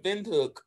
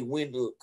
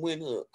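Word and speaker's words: Windhoek: i usually just say when look i pronounce it like a w but you're supposed to pronounce it with a v so there are about 280 000 people in win hook whereas in my hometown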